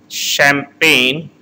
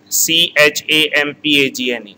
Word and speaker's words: Champagne: Champagne, here G word is silent, Champagne, Champagne, Alsace, Loire, OI is pronounced as Va, Loire, Burgundy, Bordeaux, Côte du Rhône, Languedoc, and Provence.